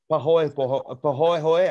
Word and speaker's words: pahoehoe: This is pahoehoe, I think is the way you pronounce it.